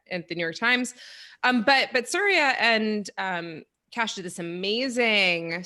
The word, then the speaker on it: Surya: So welcome to the show, Surya. And am I pronouncing your name correctly?